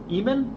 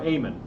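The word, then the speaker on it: Eamon: He developed it in Eman or Aean for the Apple 2.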